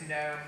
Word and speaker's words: GNOME: to pronounce it by the dictionary pronunciation, which in the United States anyway is gnome, the G is silent.